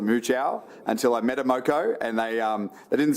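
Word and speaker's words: Muchow: It's spelled M U C H O W. How do you pronounce that road? Well, the family that is named after pronounces it as Moco.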